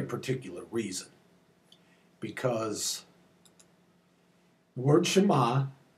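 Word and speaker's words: שמע: and an olive and it's pronounced exactly the same way shma but it means perhaps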